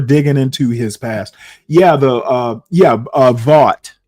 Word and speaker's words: Vought: Yeah, Vought or Vote. I pronounce it Vought. People pronounce his name differently.